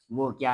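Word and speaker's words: walk: इसमें एल जो है ये साइलेंट है। इसको वाल्क नहीं पढ़ना बल्कि इसको वॉक पढ़ते हैं।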